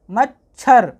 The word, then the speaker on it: मच्छर: पर इसको पढ़ेंगे पहला वाला वर्ण उसके बाद दूसरा वाला वर्ण, जैसे म च मच्छ, छर छर, मच्छर।